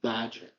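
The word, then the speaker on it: Bagent: Dude, Tyson Badger.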